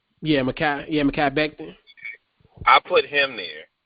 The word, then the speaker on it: Mekhi: How you pronounce his name? It's Mekhi? Did I say it right? Yeah, Mekhi Becton.